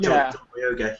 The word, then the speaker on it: Boyega: Yeah, John Boyega.